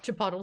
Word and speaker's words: chipotle: they made it so they made it so Jack couldn't pronounce Chipotle and so they he said it wrong like 18 different ways co cooco coco phony I